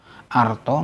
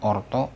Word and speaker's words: arto: Now, that rule does not apply when the penultimate syllable is with R sound, because A followed by R is always pronounced R, no matter if it's final or penultimate.